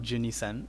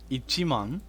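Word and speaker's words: 一万: twelve thousand in japanese it's not ginny sen it's ichimong so i remember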